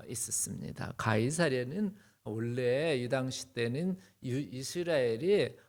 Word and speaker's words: 가이사: C 이렇게 됐기 때문에 C를 K로 발음해서 가이 어 S 해서 가이 4 이렇게 한 것 같아.